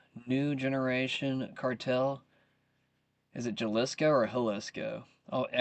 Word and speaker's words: Jalisco: grand jury widens charges against Mexico's Jalisco New Generation cartel. Is it Jalisco or Jalisco? Oh, anytime I see like something Spanish, just go ahead and pronounce the J's as an H.